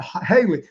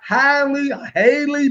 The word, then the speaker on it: Halle: But Haley, I always say her name. My wife always tells me, boy, you said her name wrong. Right? It's like Halle Berry.